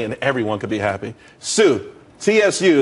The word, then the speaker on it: tsū: everyone could be happy Sue TSU it's pronounced Sue though that's that's a website.